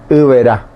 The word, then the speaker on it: Iberá: B con B corta, E, R, A, Iberá.